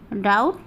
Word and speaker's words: doubt: आ जाए तो वहाँ भी हम बी को साइलेंट कर देते हैं। जैसे date, DEBT, date, डाउट, DOUBT, डाउट, और ये देखिए डेटर, DEBTOR, डेटर।